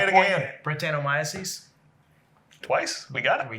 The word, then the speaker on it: Brettanomyces: Brettanomyces.